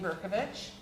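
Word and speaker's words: Berkovici: introduction I am berkovich uh there is an eye on the end of my name and it's pronounced as if it's an H so now that we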